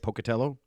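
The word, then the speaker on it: Pocatello: He is the museum director for the Museum of Clean in Pocutello, Idaho. Am I saying it right, Pocutello? You are. Most people don't, but that's very good. You did you did well.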